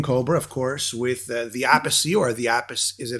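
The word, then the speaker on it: Appice: You got a new album with King Kobra, of course, with the Apice, or the Apice. Is it Apice? Carmine Apice, Alan? A piece, according to Rod Stewart.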